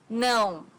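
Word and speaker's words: não: Portuguese no no so no has a very unique sound in Portuguese because it's a nasal sound no to the thing okay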